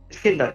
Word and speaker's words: Iskinder: Iskilder? Iskinder, yeah, Iskinder. Like Kinder Egg, but with is in front of it.